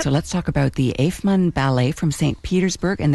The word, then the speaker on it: Eifman: Now, we don't have a lot of time left, so let's talk about the Eifmann Ballet from St.